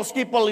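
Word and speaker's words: Schiphol: Saya bacanya apa? Oh pikir skipol. Skipol apa ya? Enggak tahunya skipol.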